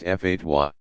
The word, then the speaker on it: fatwa: One who issues a legal advisory called a fatwa, pronounced fatwa.